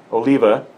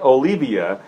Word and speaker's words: Oliva: now to be fair I was not saying Olivia I was saying Oliva Oliva yeah so I was still saying it right I was just at the wrong inflection of it should be Oliva instead of Oliva right so whatever it's